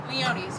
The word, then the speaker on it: Leone's: Is that how you say it, Leone's? Leone's, yeah. Leone's, cool. Like Mama Leone.